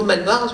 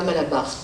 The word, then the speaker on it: Malbar: Mais bref, Malabar, on accentue le premier A, Malbar, et du coup le deuxième A il disparaît. C'est vraiment typiquement le fonctionnement du tamoul qui fait que le mot Malbar se prononce Malbar à la Réunion et pas Malabar.